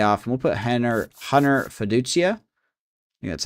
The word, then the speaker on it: Feduchia: We'll put Hen Hunter Feduchia, that's how you say his name, in here.